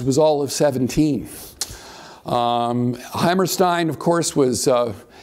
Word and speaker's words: Hammerstein: of course was uh he actually pronounced it Hammerstein I I'm sorry I I've written six books on Leonard Bernstein and of course Bernstein insisted on Stein so I seem to be Stein instead of Steen but he was actually he pronounced his name Hammerstein anyway they're both uh